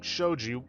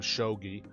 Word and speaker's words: shogi: it feel like playing showed you and yes I'm probably gonna keep ending up pronouncing it like that instead of shogi with hee Fumiya has